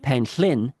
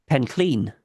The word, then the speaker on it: Penllyn: because everybody who seems to go there pronounced it Penllyn. Throughout the Yeah. podcast, you'll notice I'm pronouncing it that way, and Yeah. Goth is pronouncing it the Welsh way, the Yeah. correct way, Pencleen.